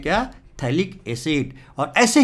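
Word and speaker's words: phthalic: इसको हम बोलते हैं थाइलिक एसिड। P है ना, P साइलेंट है, थाइलिक एसिड, इसको बोलते हैं क्या? थाइलिक एसिड।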